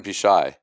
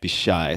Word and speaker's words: Bishai: my pronunciation here but in english dr bishai yes and wilson be shy yeah okay be shy so i want to